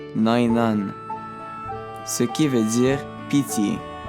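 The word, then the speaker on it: ⲛⲁⲓⲛⲁⲛ: Le mot devant nous se prononce Nainan, ce qui veut dire pitié.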